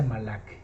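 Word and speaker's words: מלאך: Que en el Strong es el número 4397, que se pronuncia Malak.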